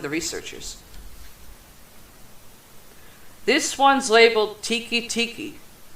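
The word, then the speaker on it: Teke Teke: researchers this one's labeled tiki Tiki not Tiki as in the drink or freaking Hut it's spelled te k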